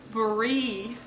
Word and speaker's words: brie: way you see it it's Bree you have to stretch him out for the N mu C e brie brie cheese and it's not for